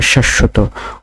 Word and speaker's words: শাশ্বত: তারপরে শাশ্বত, শাশ্বত বানানটিতে প্রমিত উচ্চারণ রয়েছে তালেবর সয়াকার তালেবর শয় হসন্ত তালেবর স তওকার, শাশ্বত।